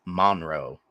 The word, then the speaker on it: Monroe: And you said it the way it should be pronounced, but it's Monroe.